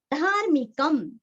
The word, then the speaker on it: धार्मिकम्: धार्मिकम, धार्मिक का मी रस्व और रफार हमें धा को जोड़ के लेना है। धार्मिक आगे आधा म, धार्मिकम, धार्मिकम।